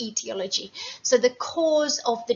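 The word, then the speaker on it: aetiology: It begins with an A, even though we pronounce it etiology.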